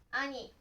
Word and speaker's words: 兄: Nó có thể được đọc là "ani", "kei" hoặc "ki".